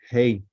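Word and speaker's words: ה: It's important how you pronounce it. Hey.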